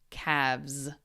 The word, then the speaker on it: calves: And ignore the L. We don't pronounce the L. So we would say calf, calves.